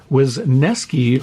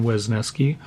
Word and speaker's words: Wesneski: Wisniewski from the Cubs. It's Hayden Wesneski.